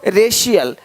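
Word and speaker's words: racial: अब देखो यदि सी के आगे आई ए हो तो सी का उच्चारण श होता है। क्या होता है? श होता है। क्या लिखा हमने? सोशल सोशल सोशल तो यहां पे शल हो रहा है। सोशल है ना? देख रहे हो रेशियल रेशियल देख पा रहे हो?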